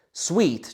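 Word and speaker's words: suite: Tak apartmán je v podstate angličtina má na to výraz sweet. Sweet, čiže akoby su, hej? Ale suita znie tak veľmi veľmi eh eh honosne. Čiže ale v podstate idú ide o viaceré izby, hej? Čiže sweet a takto sa to píše, ako vidíte, sweet. A výslovnosť je naozaj ako sweet, ako niečo sladké.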